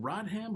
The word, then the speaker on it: Rodham: Is it Rodham or Rodham? Rodham is how they say it. I always hear like Dennis Rodman, but I said, no, that's it. It's got to be, it's Rodham, so it's Rodham.